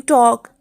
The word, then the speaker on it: talk: In calm L is silent, in calf L is silent, in half L is silent, in talk L is silent, and in walk L is silent.